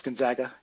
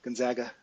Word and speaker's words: Gonzaga: It's Gonzaga. Gonzaga. Yeah. Sorry, mispronounced.